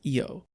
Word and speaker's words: Io: He's a child of Io, or perhaps you'd like to pronounce it Io, the creator dragon god, but he doesn't concern himself with the affairs of other dragons.